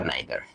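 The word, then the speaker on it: neither: আর নেগেটিভের ক্ষেত্রে আমরা ব্যবহার করি ইদার অথবা নাইদার, ইদার অথবা নাইদার, অথবা নিদার অথবা ইদার অথবা নিদার, দুইটাই বানান উচ্চারণ সঠিক আর কি।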